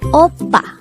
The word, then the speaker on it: 오빠: This is read as a two-syllable word. The first syllable is O, the second syllable is Pa. Let's read it together. Oppa.